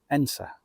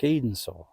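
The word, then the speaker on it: Edensor: the tiny village of Ensa, I believe it's called. It looks like Edensaw, but I later found out that the pronunciation was Ensa, I believe.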